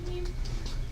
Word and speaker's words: no-op: They had no ops, or as some people like to pronounce them, noops. Noops. But it is no op, no operation.